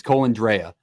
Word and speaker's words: Colandrea: It's Colandrea. I watched because let me let me talk to you. I reached out to Matt Neett, the radio voice for the UNLV Rebels, and he told me the pronunciation, and we talked at UNLV football.